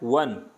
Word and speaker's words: one: य का साउंड है ए वन आइड में देखो ओ है लेकिन बोला क्या जा रहा है वन यानी व का है तो ए ईयर यानी